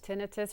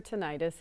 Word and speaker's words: tinnitus: Tinnitus or tinnitus is Okay.